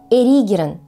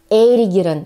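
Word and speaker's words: эригерон: Мелколепестник или эйригерон. Именно так произношение этих двух слов, которые по сути означают одно и то же растение из семейства астровых. И оба эти слова мы часто произносим совершенно неверно. Например, я встречала произношение этих слов как мелколепестник и эйригерон.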